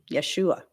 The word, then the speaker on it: Yeshua: be pronounced in Hebrew the J would be y the E would be a the S would be sh yesu and the S